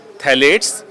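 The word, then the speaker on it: phthalates: कर टॉप में है जिसमें ब फेनॉल ए थैले पी साइलेंट है पी टी एच ए एल ए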